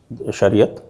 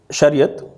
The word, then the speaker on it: Shariat: I'll be using only the Urdu Persian pronunciation in my talk today. So according to Shariat, the Ummat is one,